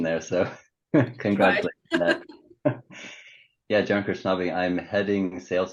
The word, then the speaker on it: Krchnavi: we have a guest we're joined by kirchnavi from Siemens all right do you want to introduce yourself sure I mean also perfect pronunciation there so congratulations yeah John krishnavi I'm heading sales name enablement within grid software